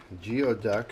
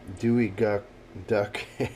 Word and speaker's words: geoduck: can see, the Geoduck, Geoduck as it's spelled, and supposedly a great delicacy, sashimi we're going to do tonight. We're going to do sashimi, Geoduck. We're going to do some dewy duck, say that 10 times